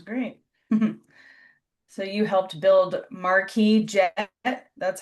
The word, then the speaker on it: Marquis: So you helped build Marquis Jet.